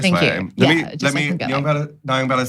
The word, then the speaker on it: Nyongbella: To be fair, it's actually Nyongbella. Oh. Yeah, that's like the actual proper like cultural pronunciation.